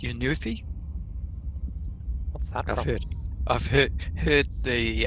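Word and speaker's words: Synuefe: how do you say that name s-y-n-u-e-f-e it's your new fee what's happening I've heard the uh the um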